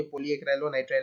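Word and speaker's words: polyacrylonitrile: थोड़ा मतलब आपको स्पेलिंग अगर समझ में नहीं भी आ रहा होगा, मैं यहाँ पे प्रोनाउंस कर देता हूँ, ये पोली एक्राइलोनाइट्राइल है, तो आप समझ जाएंगे।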